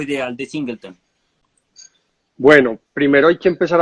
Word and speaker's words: Singleton: sola barrica o un solo tonel y se pronuncia singleton y uno como le decíamos cables cosas como